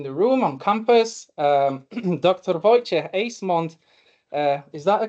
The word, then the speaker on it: Wojciech Ejsmond: Wojciech Ejsmond. Is that a correct pronunciation?